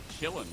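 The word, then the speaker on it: qilin: ashamed told me that their logo is a Chillin which is like a type of dragon or something yup it's spelled q-i-l-i-n if anyone's wondering so yeah LNG are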